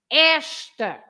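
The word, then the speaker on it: esta: there are no accents so the rule is you stress the first part because it's the one before the loss right uh if you you you stress that part you say Esther Esther it means this in the feminine form you can say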